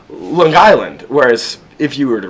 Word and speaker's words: Long Island: words Long Island however if you're from the island the way you would pronounce it is L Island almost as if it's two words L Island um which is almost like this which is supposedly an Italian influence like the idea of L Island